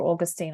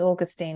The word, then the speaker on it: Augustine: audio book of um how do you pronounce it there Augustine or Austine I think it's Augustine in the US isn't it yeah in